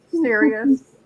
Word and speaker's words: Sirius: van keen says serious and that's how you could say it it sounds uh serious and cyrus okay we're just hitting right i mean osiris i meant cirrus okay yes we're serious karen maloney says